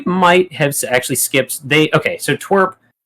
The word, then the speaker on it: TWRP: So Twerp It's spelled TWRP, and that stands for Tupperware Remix Party.